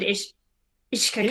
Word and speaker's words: Uisce: I like Ishka. It's good. And it's, you know, the usual Irish spelling that you can't figure out how to pronounce it from how it's written.